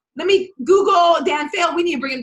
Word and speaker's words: Dan Faill: So it's a lot of my social media is Dan Faill, which is DANFAILL. So it's pronounced like to flunk, fail like to flunk, but it's with an extra L on the end.